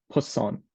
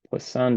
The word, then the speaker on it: Poisson: and the poisson distribution I'm I'm probably not pronouncing that the best it's poisson it's it's a named after a French mathematician but uh so binomial